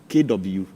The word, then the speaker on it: Kwashi: the end of the Kwashi. So how well should you? So it is KWASHI. And that's all. That's all. Or else with the E to be Kwashi. If you want to pronounce it that way.